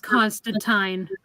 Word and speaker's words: Constantine: definitely check out Trina's review on him that's Constantine isn't it yeah Constantine stuff well I recently I recently learned that it's it's actually pronounced Constantine and they actually make a point of that